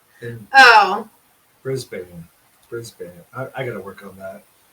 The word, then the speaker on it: Brisbane: close brisbane but pronounce bane part is pronounced ban okay brisbane yeah so like the